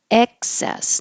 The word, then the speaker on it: excess: And 19, excess. Now the vowel is like head.